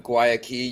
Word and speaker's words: Guayaki: So Ben Mann, CEO, as you said, of Guayaki Yerba Mate. For those of you looking to know how to pronounce it, that is how you pronounce it.